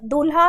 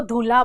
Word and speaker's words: दूल्हा: एक समस्या होती है जैसे वो द ध लिखने में गलती करते हैं या दूल्हा है शब्द तो उसको धूल्हा बोल देते हैं तो द जब हम बोलते हैं तो द के उच्चारण में हवा की मात्रा कम निकलती है परंतु जब ध बोलते हैं तो उसके उच्चारण में हवा जो है वो अधिक निकलती है तो जिनके साथ ऐसी